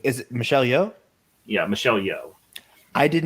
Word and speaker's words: Michelle Yeoh: Yeah, Michelle Yeoh.